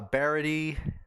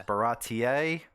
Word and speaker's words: Baratie: rob right rob and kyle i said uh barody they corrected me they said it's baratier so that is what we're on today and